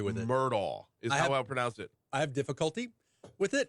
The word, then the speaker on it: Murdaugh: the way, if you see the name Murdaugh, I have difficulty with it. Murdaugh is how I pronounce it.